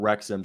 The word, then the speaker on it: Wrexham: does that say ryan why'd they spell the name wrong because the the club is called wrecked it's called wrexham so they bought the club called rexim wrexham